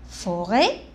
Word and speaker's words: forêt: A, F, O, faux, R, et ré, et la lettre T est muette. On la prononce pas.